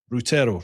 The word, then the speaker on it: Routero: Routero, right.